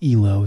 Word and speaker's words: Elo: A lot of people think that it's like ELO, that it must stand for something, but it actually is ELO. It's pronounced like that because it was named after some guy.